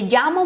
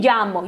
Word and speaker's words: llamo: Lembra que na outra aula a gente viu a pronúncia dos dois L's, né? Então